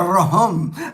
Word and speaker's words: rhum: According to my good friend Ray in the Philippines, rahum, because they spell it tanduay. When you look at the bottle, I never noticed it until Ray pointed it out to me. It's spelled RHUM, so it's not just rum. It's rahum.